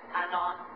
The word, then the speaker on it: anon: means nameless for author unknown short form is pronounced Anon I suppose it's another Latin word oh sorry